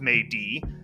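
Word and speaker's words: 美的: in beautiful and this character and it is pronounced May D but when it comes to words aren't proper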